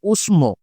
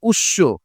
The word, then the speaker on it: উষ্ম: বসানোর প্রয়োজন নেই তবে এই শব্দটার আধুনিক উচ্চারণ অর্থাৎ বাংলা ভাষায় উচ্চারণটা হচ্ছে উৎস যখন এইরকম উৎস উচ্চারণ